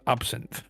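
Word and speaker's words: absinthe: It is pronounced absin. Absinth.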